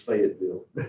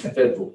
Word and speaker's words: Fayetteville: Nobody from there says Fayetteville. It's Federal, F-E-D-V-I-L.